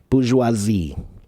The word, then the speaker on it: bourgeoisie: Dawn wants me to pronounce the word bourgeoisie. That's a French word. Tishifawen, Dawn. So, bourgeoisie.